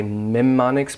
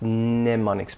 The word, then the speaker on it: mnemonics: agile tongues so Mauro usually when you see MN you pronounce the in not the M so some people might say mem monix but the more common or standard pronunciation is mnemonics mnemonics pronounced the end mnemonics so what are some